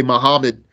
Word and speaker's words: Muhammad: Muhammad, don't say Muhammad. Prophet Muhammad, mu, not ma, mu, ha, not ha, Muhammad. It's not Muhammad, Muhammad.